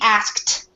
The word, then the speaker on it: asked: it would sound weird so we asked and so this definitely has a t sound at the end of it we asked six people